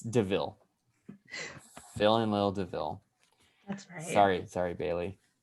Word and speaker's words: DeVille: It's got 2 syllables. Miller. No, Were you kidding? I'm not kidding. The second Oh. part of it rhymes with their first name.